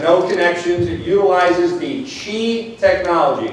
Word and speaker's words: Qi: connections it utilizes the chi technology it's Qi pronounced Chi this is the most